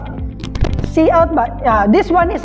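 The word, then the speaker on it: cout: we have this one is pronounced as cl see out but uh this one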